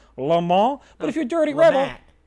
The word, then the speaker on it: LeMat: Jean Alexander France L because he is French and that is the proper pronunciation Lal but if you're dirty